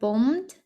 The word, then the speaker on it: bombed: The German planes had bombed his ship. Німецькі літаки розбомбили його корабель. Зверніть увагу, в цьому слові «би» ми не вимовляємо «bombed».